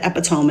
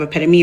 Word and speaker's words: epitome: Like so many of you brought up media literacy this summer when um sincere from Love Island said epiome instead of epitome, right?